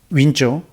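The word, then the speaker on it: 温州: 그분이 저를 데리고 중국 우리 발음으로 온주라고 하는데 윈조, 그 지방에 가서 집회를 했습니다.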